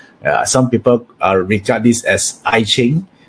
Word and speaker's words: Yi Jing: Some people regard this as I Ching. The proper pronunciation here is we pronounce it as Yi Jing, right? Yi Jing, yeah.